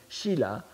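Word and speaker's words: 希腊: La Grèce en chinois se dit shila, c'est-à-dire hellas, n'est-ce pas, donc shila, et le premier caractère ki est l'abréviation de Grèce.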